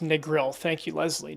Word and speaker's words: Negril: It's pronounced negril. Thank you, Leslie. Negril.